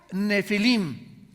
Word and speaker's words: nefilim: Había nefilim phomena. Nepilim se escribe en el hebreo. Se pronuncia nefilim, como seora f de Francisco.